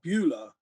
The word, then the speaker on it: Beulah: discuss was and correct me if if i'm pronouncing it wrong um hula bueller yeah beulah yeah okay so this is this is um